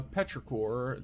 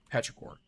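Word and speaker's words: petrichor: Uh Petraore.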